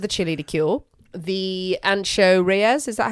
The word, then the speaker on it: Ancho Reyes: little bit of the chili to kill the ancho Reyes is that how you pronounce it yeah so we've added some chili